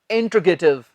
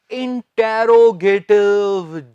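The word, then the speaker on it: interrogative: जिसे हम प्रश्नवाचक कह देते हैं, इंग्लिश में उसे बोल देते हैं इंटेरोगेटिव। जी ये इंटेरोगेटिव नहीं होता, इसका सही उच्चारण है इंट्रोगेटिव।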